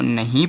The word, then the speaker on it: know: तो यहाँ पे कनऊ इसको नहीं पढ़ा जाएगा। इसको सिर्फ आप क्या पढ़ोगे? इसको पढ़ोगे नो। क्या पढ़ोगे? नो पढ़ोगे। क्योंकि यन से पहले के आया है तो के का उच्चारण नहीं होगा।